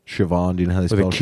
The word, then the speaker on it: Siobhan: Siobhan which is spelled do you know how it's spelled Siobhan do you know this thank you no it's